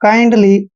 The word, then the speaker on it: kindly: LY का उच्चारण हम क्या कर रहे हैं? ली, मतलब काइंडली।